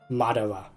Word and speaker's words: Madara: Madara. It is that simple. Don't put too much emphasis in the R part. So it's Mad-A-Ra.